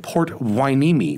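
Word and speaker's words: Port Hueneme: official retail locations like their new one in port wineme which i am told is the correct pronunciation if you're not in california or even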